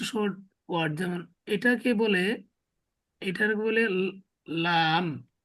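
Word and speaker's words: لام: এরপর আমরা আরো কিছু শর্ট ওয়ার্ড, যেমন এটাকে বলে, লাম, ঠিক আছে? কিন্তু এটার জি উচ্চারণ হয় আর বাংলাতে লয়ের মতো, ঠিক আছে?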